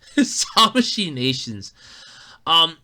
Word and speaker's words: Tamashii Nations: I've been mispronouncing it all week. Tamashii Nations.